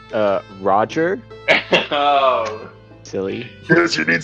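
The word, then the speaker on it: Rahdrer: Mr. Bjork, how do I pronounce that? It's Roger.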